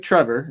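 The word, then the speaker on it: Trevoh: It's It's Trevo. Like just like Trevor except Trevo.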